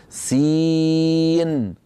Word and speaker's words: سين: لما بدنا ننطق سين نقول سين ماذا نطقت الان نطقت سين مكسوره بعدها ياء ساكنه بعدها نون ساكنه اذا نطقت ح اسم